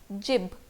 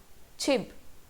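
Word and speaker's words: 집: So according to romanization, it should be pronounced as jib. Clearly, jib. But इसका pronunciation है chib, chib. अब ये छ और ज दोनों के बीच जैसा कुछ लग रहा है.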